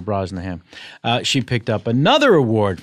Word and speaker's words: Brosnahan: Comedy and also Rachel Brosnahan that's not how you say her name usually you don't swallow in the middle of the last nice name you just say it right through Rachel Brosnahan she picked up another